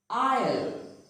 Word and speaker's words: isle: Isle. Isle. It is not pronounced as isle, but it is pronounced as isle. This word is also pronounced as isle. Both these words pronounce the same.